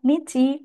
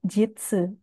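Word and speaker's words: 日: Untuk kunyomi dibaca hi, bi, ka. Kemudian untuk onyomi dibaca nichi atau jitsu.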